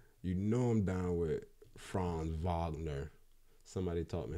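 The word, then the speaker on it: Franz Wagner: down with uh you know I'm down with fron Vagner somebody taught me how to say that because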